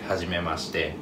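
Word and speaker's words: はじめまして: So in that case, people usually say hajimemashite.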